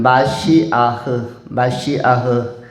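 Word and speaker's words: מָשִׁיחַ: 본문에서 메시아라는 단어가 나오는데 이것은 히브리어는 마시아흐, 메시아의 히브리어적 발음은 마시아흐이고 헬라적 발음은 마시아스 하면은 메시아, 그리고 히브리적 발음으로는 마시아흐, 이것이 히브리적 발음인데 의미는 무엇입니까?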